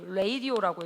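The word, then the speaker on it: radio: 그치, 레이디오라고 읽어야 돼. 레이디오 뭐 이렇게 읽어야 되고, 이거 어떻게 읽어야 돼?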